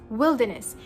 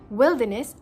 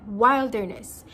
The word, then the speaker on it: wilderness: Your mouth should be spreaded, wilderness, and not rounded, wilderness. Since we are also following the British English variant, we are also supposed to silence the R in the wilderness.